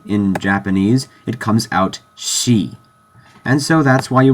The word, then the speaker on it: し: rule this is not C this is she Shi in Roman cuz that's how it's pronounced it's she it's not a big